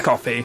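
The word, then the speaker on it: Ko-fi: you so wish on Kofi Kofi Jason coffee how do you pronounce that coffee right yeah it's coffee yeah uh yeah you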